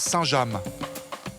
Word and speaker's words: Saint-James: Contrairement aux apparences, ce n'est pas un mot anglais. Ça se prononce Saint-James, du nom du petit village normand où se trouve son usine.